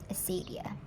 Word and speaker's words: acedia: Asadia. It is spelled Acedia, Asadia.